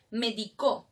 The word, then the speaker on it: medicó: Ahora, si yo digo médico, medico, medicó, ¿tienen el mismo significado? No, cambia según el acento.